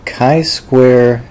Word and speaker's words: chi-square: want to discuss the kai Square test of Independence note that I it looks like chai square but it's pronounced Kai Square it's from a Greek